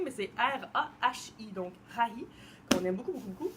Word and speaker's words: Rahi: Je ne sais pas trop comment le prononcer, mais c'est R-A-H-I, donc Rahi, qu'on aime beaucoup parce qu'il se zippe bien.